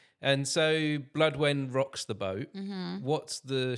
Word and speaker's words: Blodwen: How do we pronounce it? Because it's a Welsh name. Is that correct? Blodwen. Blodwen. And so Blodwen Rocks the Boat.